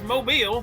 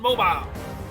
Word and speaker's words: Mobile: It's mobile, not mobile.